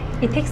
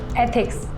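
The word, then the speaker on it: ethics: इथिक्स नहीं, एथिक्स, ऐसे pronounce करो।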